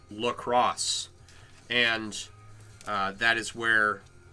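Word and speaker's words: La Croix: was named after and is pronounced the same as uh the city of Lacrosse Wisconsin so is it Wally lroy or Wally lacrosse and everything I know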